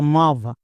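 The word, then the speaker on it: move: কিছু কিছু জায়গায় যেমন দেখো এম ওভি এর উচ্চারণ মুভ বা মাভ এরকম করতে পারবো না।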